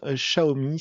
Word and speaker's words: Xiaomi: Alors, pour celles et ceux qui ne savent toujours pas, euh la marque Xiaomi se prononce Xiaomi. C'est pas compliqué, c'est comme un chat haut et plus loin la m de pain.